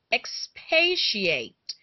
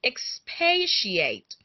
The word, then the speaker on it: expatiate: sound a card to me this word is pronounced as expatiate can I hear you say expatiate and it's spelled e XP a TI a